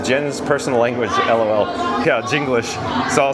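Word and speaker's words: Jenglish: That's spelled J E N G L I S H. So, it's English with a J.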